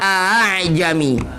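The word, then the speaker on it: أأعجمي: Satu contoh di Fusilat bunyinya a'jami. Ya, a'jami. Bunyinya nggak ada mad yang memisahkan kedua hamzah ini. Aslinya, coba kita bujukan aslinya. A'jami. Lagi a'jami. Karena sukar pelafalannya dalam kata ini, maka dia ditashil.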